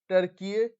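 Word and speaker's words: Türkiye: ठीक है दोस्तों, और टर्की का कहना है कि इसके जो लोग हैं वो पहले से ही टर्कीय का ही उच्चारण करते थे और इसीलिए इसने यूनाइटेड नेशंस में अपना नाम बदल लिया है।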